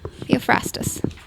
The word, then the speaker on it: Theophrastus: okay theophrastus theophrastus theophrastus yeah theophrastus that's how i would pronounce it i've no idea what the ancient greek pronunciation would be but not at first